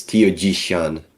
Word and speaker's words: Tiaojishan: It's tioishan actually.